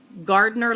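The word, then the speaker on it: Gardner: gardener and the gang gardener like gah like you know you work in the garden but it's spelled GA rd n er and the gang chi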